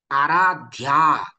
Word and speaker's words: आराध्या: नाही म्हणत तर असत्यम आराध्या यामध्ये सुद्धा ध्या हे जोड अक्षर आहे त्यामध्ये पहिलं अक्षर काय आहे ध जोड अक्षर म्हणजे काय